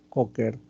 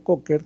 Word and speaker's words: Kocher: Entonces, la inspección obviamente es de bastante utilidad, que trataremos de buscar, por ejemplo, una incisión de Cocker, ¿no? La incisión de Cocker, se escribe Kocher, es una incisión subcostal, ¿no?